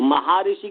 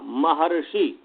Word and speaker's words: महर्षि: तो महाऋषि कभी नहीं बोलिएगा, महर्षि।